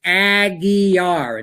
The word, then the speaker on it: Aguiar: His proper pronunciation of his name is Aguiar. It's pronounced the way.